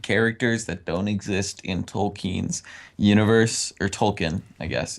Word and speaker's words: Tolkien: and they invented characters that don't exist in tolkien's universe or Tolkien I guess is the correct pronunciation the love triangle between Legolas who wasn't